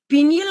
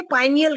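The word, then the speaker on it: pineal: उसी का direct connection पीनियल gland से होता है। कई कई लोग उसे पाइनियल ग्लैंड भी बोलते हैं। पी आई एन आई एल उसका स्पेलिंग होता है।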